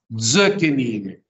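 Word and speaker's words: זְקֵנִים: Entonces la reduzco a zökenim, zökenim, es decir, viejos, ancianos.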